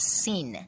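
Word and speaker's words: سین: If you're wondering what Hyacinth is, it's an arrangement of 7 symbolic items whose names start with the letter S, pronounced as sin, which is the 15th letter in the Persian alphabet.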